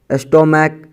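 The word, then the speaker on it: stomach: स्टोमैक, स्टोमैक्स। सी एच का उच्चारण यहाँ पे क्या है? क का है।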